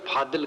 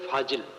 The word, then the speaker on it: फाजिल: फाजिल, फादिल, जिसको अपभ्रंश में फादिल कहते, ये चीज फादिल है, शुद्ध शब्द है फाजिल।